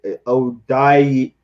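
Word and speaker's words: Odeyingbo: They only had one pick, and they had Dale Ajayi, say Odayingbo. Dale Odayingbo.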